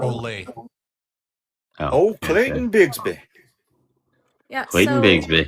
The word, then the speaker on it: Ole: It's His name's pronounced Ole. Olay.